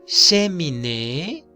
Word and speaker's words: cheminée: Si yo digo aquí cheminée, está mal, ¿cierto? ¿Cómo pronuncio? Che, porque la E suena E. Cheminée.